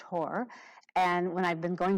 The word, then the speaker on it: Horr: has an unusual last name it's spelled h-o-r-r pronounced horror and when i've been going backwards tracking in